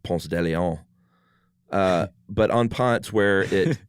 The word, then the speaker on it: Ponce de Leon: And, at Ponce de Leon Avenue here in Atlanta, everyone that doesn't live in Atlanta probably laughs that we pronounce it that way instead of Ponce de Leon.